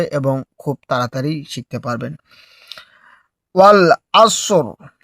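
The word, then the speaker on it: وَالْعَصْرِ: ওয়াল আসর অর্থাৎ সদ এবং রয়ের উচ্চারণটা একই সাথে হবে। যদি আমরা দম ফেলি আর যদি দম না ফেলি তাহলে কিন্তু আমরা পড়বো ওয়াল আসর রয় নিচে যে রয়েছে এই জেরটা আমরা ধরে পড়ব।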